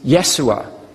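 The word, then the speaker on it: يسوع: wrong name for Jesus jesus' name in Arabic is yesu that's how his name is pronounced in Arabic yet in the Quran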